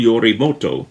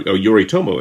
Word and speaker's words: Yoritomo: a warrior named minamoto yorimoto or yoritomo i should say his name he took